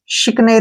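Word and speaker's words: chicanery: जो कि गलत है तो सी के साथ एच आया है ना तो श बन जाएगा क्या बन जाएगा श और आई की मात्रा क्या बन जाएगी ई और सी से बन गया क ठीक है एन ई से बन गया ने और र आ से बन गया र और वाई का जो बनेगा यहां पर ई शिकने क्या पढ़ेंगे इसको शिकने शिकने का मतलब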